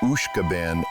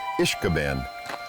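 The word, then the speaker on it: Uisge Bàn: Commonly, the name of this park is pronounced either Ishkabane or Ishkabane.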